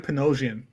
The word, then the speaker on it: Panosian: dude I'm here I I pronounce it Dan panosian panosian doing it doing